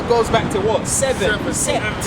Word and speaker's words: sept: Sept. Yeah, sept in French. That's how you say it. Sept. In French, it's sept.